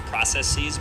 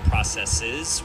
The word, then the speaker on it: processes: isn't pronounced processes, but rather processes.